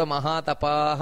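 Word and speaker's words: ಮಹಾತಪಾಃ: ಇದೆ ಸ್ಥಾನುರ್ ವರಾರೋಹೋ ಮಹಾತಪಾಹ ಅಲ್ಲಿ ಕೂಡ ಮಹಾತಪಾಹ ಅಂತ ದೀರ್ಘ ಇದೆ ಇಲ್ಲಿ ಭಗವಂತನ ಮೊದಲನೇ ನಾಮ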